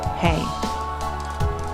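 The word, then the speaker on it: ה: Comment on Heh. Heh, pronounced Hey.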